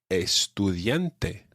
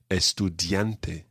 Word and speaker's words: estudiante: estudiante estudiante and not estudiante okay listen to the difference estudiante estudiante and the same happens with the t so estudiante perfecto now when we